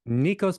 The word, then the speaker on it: Nikos: pronounce your name right how how do you pronounce it correctly Nikos and that's because I'm a first